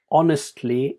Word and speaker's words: honestly: So the word honestly is without an H sound, but you might put the H in there, which is not a